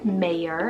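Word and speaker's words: Meyer: Next up, we have Mayer, spelled M-E-Y-E-R, Mayer, another surname just like Iverson, but a little different with that E-R ending, which is also another trendy ending.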